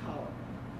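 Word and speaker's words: Taliaferro: That name is also pronounced Tolliver, even though it's spelled the same thing, same way.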